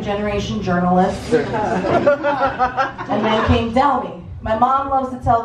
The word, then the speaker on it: Delmy: My name is Delmy. It's spelled D-E-L-M-Y.